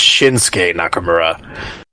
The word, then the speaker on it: Shinsuke Nakamura: know 45 years behind everything fine West I'll pronounce it right it's shinsuke Nakamura can we it it it's true it's that's